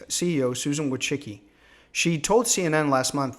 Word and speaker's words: Wojcicki: the you to the YouTube C CEO Susan would chicky she told CNN last month that her platform